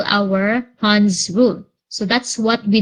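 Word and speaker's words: Hund: so we also have what we call our hans rule so that's what we did li and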